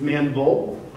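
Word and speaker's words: Manvel: Don't call it Manville, it's Manville. It's got to go real quick, real fast.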